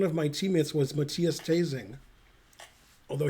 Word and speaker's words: Thesing: That's funny because when I played in the Bundesliga, one of my teammates was Matthias Tasing. Although he didn't spell it like teasing, but pretty close. It was Thesing.